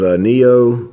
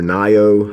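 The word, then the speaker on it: Nioh: Next up is Neo, or Nio, however you want to pronounce it.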